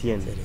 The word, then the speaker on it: Seraing: Cerecien. De la villa de Seraing. Seraing se escribe.